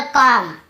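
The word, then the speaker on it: comb: आप रूल नहीं जानते तो आप इसे क्या पढ़ते कम बम बम का उच्चारण करते लेकिन देखिए एम के बारे में लिख दी है तो हमें बी को नहीं पढ़ा केवल कम यहां पर भी बी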